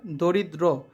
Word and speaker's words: দরিদ্র: শব্দটির সঠিক উচ্চারণ লেখো সঠিক উচ্চারণ হবে এটা দরিদ্র দ এর নিচে একটা হসন্ত রয়েছে এখানে কোন খালি ঘর